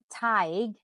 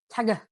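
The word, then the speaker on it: Tadhg: But things like the name Taig is spelled Tadgh. Like, how would you say that in English? Like Tagga.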